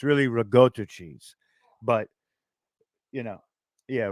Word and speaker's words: ricotta: Italian it's in Yoki just like they say ricotta cheese it's really rigota cheese but you know yeah we're good my